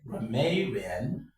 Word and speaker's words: grammarian: Grammarian, for example, the word grammarian.